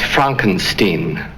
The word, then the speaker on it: Frankenstein: Frankenstein that's frank enstein I beg your pardon my name it's pronounced frank enstein but aren't you the grandson of the famous dr.